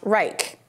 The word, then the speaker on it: R3ICH: made by a company called R3ICH, pronounced Reich.